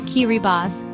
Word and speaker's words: Kiribati: Kiribati, pronounced Kiribati, is a name reclaimed from its colonial past, now worn with pride by its people, who celebrate their unique heritage and traditions.